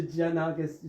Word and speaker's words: Giannakis: I was born, and it's pronounced Giannakis like Japan. So in Japan, they would all say Giannakis, and I said, no, it's Giannakis like Japan. They said, why don't you spell like Japan?